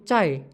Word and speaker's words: çay: Kita bisa melafalkannya C dalam bahasa Indonesia seperti cinta. Contoh kata dalam bahasa Turki yaitu çay, yang artinya teh.